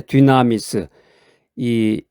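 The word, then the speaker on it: δύναμις: 뒤나미스죠. 뒤나미스. 두나미스라고 발음하기도 하는데 듀나미스.이 헬라오로는 이제 디나미스라고 이제 표현을 하는데 기적을 행하는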